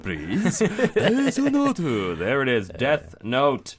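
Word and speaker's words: デスノート: Because I love the Japanese, you just you say it phonetically and Desunoto. Desunoto, please. Desunoto.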